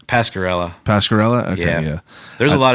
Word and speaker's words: Pasquarella: yeah kind of yeah yeah how do you pronounce your last name Pascarella Pascarella yeah there's a lot of different form